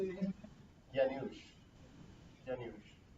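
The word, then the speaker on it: Janusz: Yanush. Yanush. It's kind of a harder one to say because it's a Polish name.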